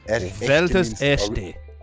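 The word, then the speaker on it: Werther's Echte: Werther's, by the way, in Germany. How do you say it? They are called Welt's echte. Welt's echte. Yeah, exactly like that. Nailed it.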